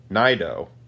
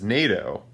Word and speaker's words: Naido: refers to her as NATO Nieto pronounced like the the military alliance between the United States and European European countries and secondly I just